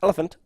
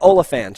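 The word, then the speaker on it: Olyphant: But he pronounced his own name, and it is closer to elephant than Oliphant. Great. Now I can't even remember how he said it, but it's like Timothy Oliphant.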